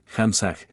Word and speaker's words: hamsa: se trabaja con el mantram hamsa que se pronuncia así hamsah Este mantram es el